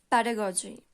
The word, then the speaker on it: pedagogy: So today's topic is pedagogy. Pedagogy. Pedagogy means शिक्षण शास्त्र. ठीक है? Pedagogy. Pedagogy. You can pronounce it like pada and goji.